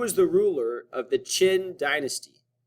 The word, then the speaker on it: Qin: the ruler of the Qin dynasty spelled with a Q pronounced with a CH sound number five how many